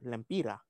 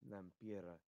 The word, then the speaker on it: Lempira: We say lempira. Ah. I don't know why, but it sounds cute. Lempira. Lampira. Stop butchering it, Smoke. No. Lempira.